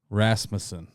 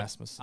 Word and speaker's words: Rasmussen: Rasmussen. Okay. Yep. Rasmussen.